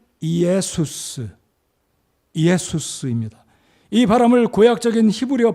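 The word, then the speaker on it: Ἰησοῦς: 정확한 방금 전에 말씀드렸던 헬라어 원어 발음은 이에수스 예수수입니다이 바람을 구약적인 히브리어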